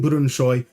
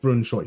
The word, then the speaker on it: Brønshøj: bunker um singing say saying Brunoy like Brunoy. So it rhymes with boy and that means that we finally have possibility for some celebration songs.